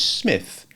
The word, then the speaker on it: Psmith: The name is Smith. P. Smith. The P is silent.